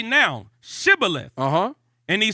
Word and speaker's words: Shibboleth: Then said they unto him, say now, Shibboleth. And he said, Sibboleth. Yeah, so they didn't pronounce it. They didn't pronounce it like sh.